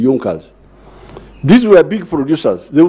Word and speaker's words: Junker: group in prussia called yunkas they are written as junkers but they are pronounced as the yonkos these were big producers